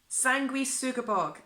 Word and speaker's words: Sanguisugabogg: was trying my very hardest in order to pronounce it properly. But Sanguisugabogg? Oh, I've messed it up. Sanguisugabogg. Sanguisugabogg. Sanguisugabogg.